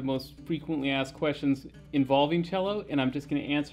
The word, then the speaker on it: cello: write y is cello pronounced cello with the ch okay that's the first